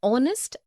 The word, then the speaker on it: honest: also an air an honest an hour because the words air honest and our begin with the vowel sound as the initial consonant h is not pronounced article 1 we use